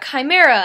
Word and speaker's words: chimera: looked up the pronunciation of and I've been pronouncing it wrong in my head the entire book but he's a chimera and she has this magical life where she